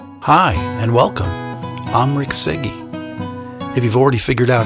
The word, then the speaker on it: Cyge: hi and welcome I'm Rick sigy if you've already figured out how to pronounce my last name before I told you